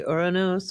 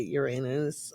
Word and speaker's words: Uranus: I'm like, most people don't pronounce it that way. They either say Urronos or they say Uranus. I just chose to say Uranos, which in the transcripts will look like your nose.